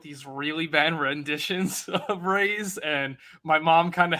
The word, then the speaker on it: Raze: Raze, rhymes with Craze.